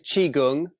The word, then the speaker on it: Qigong: But it is Qigong. Qi, like Tai Chi, it's the other side of Tai Chi.